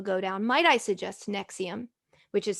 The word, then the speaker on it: NXIVM: It's Nexium.